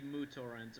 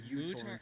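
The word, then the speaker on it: µTorrent: Oh, well, it's supposed to be MooTorrent or Is uTorrent. Oh, that's it. Okay, well, we can say MooTorrent. I say MooTorrent because that's how the Greek letter is supposed to be pronounced, but that's because I am patrician.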